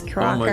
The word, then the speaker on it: Kraka: It just sounds like I'm saying like cracker with an accent. My name is Kraka.